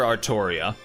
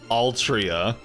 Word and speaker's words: Altria: continue to call her Arttoria. I'm sorry. I'm sorry to break it to you guys. Her name is Altria. Like when when they say Arttoria, it's just because the Japanese can't pronounce L's.